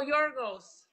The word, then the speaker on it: Yorgos: Your name in Greek. Is it Yorgi? Oh, Yorgos. Yorgos! Yorgos! GeoPop, aka Yorgos. Yorgos. Yorgos. That's right. Now you spell it pretty good. You pronounce it just right.